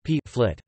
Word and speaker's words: Pflicht: For example, flicht obligation is pronounced flit, or in careful speech, p flit.